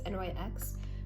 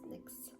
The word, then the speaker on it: NYX: i pronounce the brown correct because i always pronounce it as nyx when in reality it is pronounced nyx so i'm going to start with lining okay